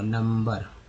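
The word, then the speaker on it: number: नंबर, यू का उच्चारण यहाँ पर अ के रूप में हुआ, नंबर। अब बात करेंगे जैसे कि एस, है ना, यू, एम।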